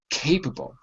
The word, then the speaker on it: capable: Jose, capable. Capable. The antonym is incapable. Okay? And listen to me. Capable, incapable. The stress is in the first.